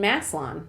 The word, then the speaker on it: Massillon: I'm still going to say it wrong because I can't not say that O in Massillon, okay? That's how it's spelled.